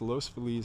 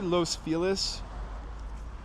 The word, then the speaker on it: Los Feliz: Did I say Los Feliz? Because that's how people in California pronounce it, and I generally default to Los Feliz.